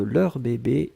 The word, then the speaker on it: leurs bébés: demande la prononciation de leurs bébés et leur bébé est la même oui oui oui oui parce qu'on ne fait pas d'eux on ne fait pas de liaison puisque bébé commence avec une consonne donc on n'entend pas le pluriel on doit hélas et contextuelle